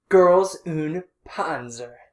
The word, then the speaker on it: Girls und Panzer: started a new series girls oon ponzer yes you have to say it like with the little german accent and everything girls could also panzer